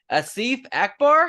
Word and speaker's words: Asif Akbar: me right now let's see if I can pronounce this right Asif Akbar is that you got it yeah you got